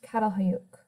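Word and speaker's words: Çatalhöyük: Aleppo Jericho and this last one here is pronounced catal hoyuk we're going to take a look at each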